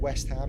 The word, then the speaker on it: West Ham: You guys are always saying West Ham.